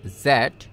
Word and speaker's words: Z: হচ্ছে জ্যান জি মানে জেড ইংরেজি অ্যালফাবেটে জি আর ব্রিটিশ উচ্চারণে জেড আমরা ছোটবেলায় জ্যাট পড়ে এসছি তারপর আমেরিকান উচ্চারণে জি এই তথ্যটুকু তাদের জন্য